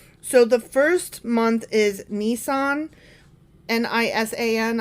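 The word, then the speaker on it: Nisan: the first month is nissan n-i-s-a-n i'm assuming that's how it's pronounced like the car um it's the month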